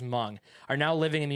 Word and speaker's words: Hmong: mountain society called the humong might be slaughtering the pronunciation of that about 35 000 humong are now hmong i feel like i know that i think it's just hmong are now living in